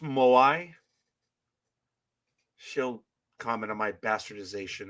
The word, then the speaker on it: moai: dived into it is that called is it pronounced moai she'll comment on my bastardization of the language no that sounds about right moai so yeah but I appreciate that Aisha so